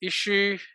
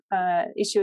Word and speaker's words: Issuu: If you're a member, you get the latest issue.